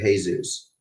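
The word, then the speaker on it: Jesús: about the an accent that makes it hey Zeus on one of the letters well this verses Jesus the well the in Spanish the accent makes it um in Spanish the second to last syllable is always gonna have the emphasis on it unless you put an accent mark oh well there's a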